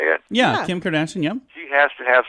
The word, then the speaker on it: Kim Kardashian: Yeah, Kim Kardashian, yeah.